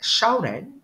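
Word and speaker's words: 小人: person Superior person or a virtuous person unlike shaan shaan is spelled as x i a o r e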